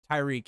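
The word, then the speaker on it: Tyrek: Tyreek, it rhymes with Meek, correct.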